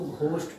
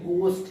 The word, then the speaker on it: ghost: बात करते हैं तो GHOST, लोग इसको घोस्ट पढ़ते हैं, लेकिन ये घोस्ट नहीं, ये गोस्ट है, गोस्ट, एच साइलेंट रहता है, गोस्ट होता है, ठीक है, गोस्ट होता है।